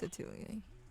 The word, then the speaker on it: Atelier: Atelier? Is that how you pronounce it? Atelier. Yeah, it's Atelier.